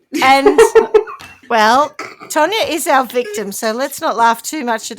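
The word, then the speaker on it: Taunja: But I thought, okay, phonetically, it's Tanya. Got it.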